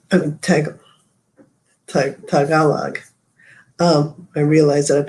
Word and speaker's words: Tagalog: years it's okay yeah a lot of people say tagalog because it sounds like tagalong but yeah that's yeah tagalog yes um some people